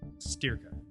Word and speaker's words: Styrka: name of the facility like you're steering a car steer steer huh yeah but don't say like Brendan's ear cut sterka cerca ya see ya stir stir stir cut mr.